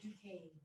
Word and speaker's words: Duquesne: Why is it Duquesne in there, but it's Duquesne? Because Pronounced Duquesne. because that's a French word.